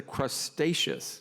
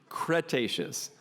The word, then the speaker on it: Cretaceous: stages of dinosaur evolution a period often mispronounced the crustaceous but really it's the Cretaceous it's the last great